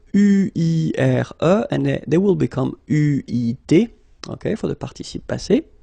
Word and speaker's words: eu: have to pronounce it U. So remember, main difference or big difference between what you write and what you pronounce, so you write it like that, EU, but then you pronounce it U.